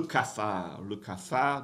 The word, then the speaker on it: cafard: Le cafard, don't pronounce the D.